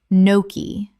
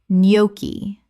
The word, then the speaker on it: gnocchi: Gnocchi or noki. Correct pronunciation. Nyoki. The G is completely silent. This is another Italian word.